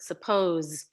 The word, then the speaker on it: suppose: And for those that the question wasn't asked, but why does the S say z in this word? Suppose.